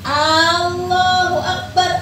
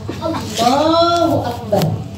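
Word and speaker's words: الله أكبر: Kalau kamu bacanya panjang, hurufnya panjang. Allahu Akbar artinya apakah Allah Maha Besar? Tapi kalau kamu bacanya pendek, Allahu Akbar. Ya, A-nya maksud saya, A depannya itu loh.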